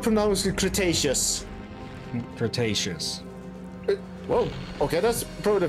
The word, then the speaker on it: Cretaceous: then come up from now is the Cretaceous Cretaceous whoa okay that's probably the first time here you pronounce it correct also the problem you can